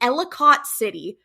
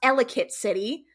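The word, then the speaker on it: Ellicott City: right now and right up here you'll see elott City first of all it's pronounced elit City second of all it elate city is not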